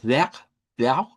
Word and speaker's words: vertrauen: En ese caso es vertrauen, vertrauen, vertrauen. Son tres sílabas. Es la primera, donde les decía, esa V se convierte en F, luego sonamos una E abierta y luego una R uvular.